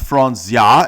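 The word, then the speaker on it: Franzia: have had your own it's false yeah it's pronounced frons yah and it's the finest of the boxed wines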